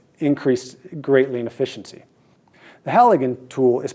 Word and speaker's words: Halligan: so this tool increased greatly in efficiency the halogen tool is pronounced just like that h-a-l-l-i-g-a-n it's often confused